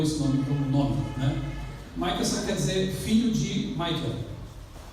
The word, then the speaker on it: Michelson: receber o Prêmio Nobel de Física, Albert Abraham Michelson. Essa é a pronúncia correta, mas a minha mãe não sabia.